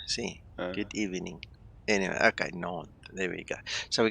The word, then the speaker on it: Nantes: Nantes. Nantes. So in Afrikaans, it's like saying good evening. That's the Afrikaans word for good evening. Nantes, goeienaand. See, good evening. Anyway, okay, Nantes.